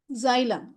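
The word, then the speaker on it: xylem: எக்ஸை வந்து நம்ம இந்த இடத்துல ஜ மாதிரி ப்ரொனவுன்ஸ் பண்ணுவோம். இப்போ ஜை ஜை, ல இல்லையே ல, இம் ஜைலம் ஜைலம்.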